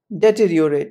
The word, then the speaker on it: deteriorate: disasters the correct way to say it is deteriorate a little bonus with this point the opposite